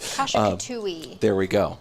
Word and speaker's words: Kasha-Katuwe: has a very specific name I'll let you pronounce for us. But Kasha-katuwe.